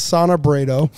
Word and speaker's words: Sonna Brado: So our guest today is Sonna Brado, and I think I nailed it.